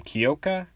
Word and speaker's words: Kyoka: I believe that's how you say her first name, Kyoka. I know some people say it differently, so I'm just going to say it like that, because I believe that's how it's properly said, but yeah, and Izuku said, Izuku Midoriya.